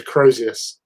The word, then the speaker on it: Crozius: Oh, It's a Crozius.